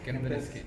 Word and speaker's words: Kempinski: Kempinski? Yes, Kempinski.